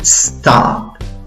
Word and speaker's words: stop: Stop. Stop. Stop. Por favor, no le agregues una E antes de la S. No digas stop. Stop. No, comienza soplando.